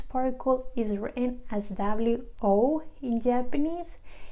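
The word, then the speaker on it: を: is written as EE Oh in Japanese it is actually pronounced as if it was just the letter O oh okay and then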